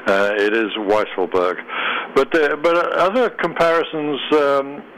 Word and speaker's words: Weisselberg: note on mr weisselberg it is a weisselberg as in wise uh it's not the more tempting weasel which is i know